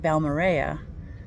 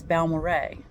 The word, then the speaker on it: Balmorhea: in West Texas and I learned how to pronounce that just recently if you look at it it looks like balara but apparently it is named for two gentlemen balmo and Ray so it's balore Ray and I love learning things like that because